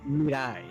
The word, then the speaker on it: Mirai: So everyone already knows this, but it's actually Mirai.